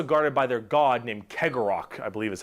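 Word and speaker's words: Cegorach: webway, and also guarded by their god named Kegorok, I believe is how you pronounce his name.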